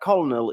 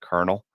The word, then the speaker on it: colonel: colonal who is seeking political Asylum and that colonal is the former gav leader of the old